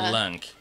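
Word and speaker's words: Lönk: It's L and then O with 2 dots over it. It's pronounced like the British her, like apparently it's Lunk.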